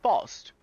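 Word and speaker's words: Faust: Not many people know this, but her name is actually pronounced Fost.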